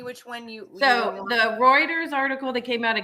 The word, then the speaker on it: Reuters: uh Routers article and I don't know if it's Routers or Routers, however you say the Reuters.